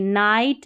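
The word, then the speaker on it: night: क्योंकि GH हमारा silent और आई बचा, तो आई का उच्चारण आई है। तो देखिए नाइट, राइट, लाइट और हाई, ज़्यादातर जो है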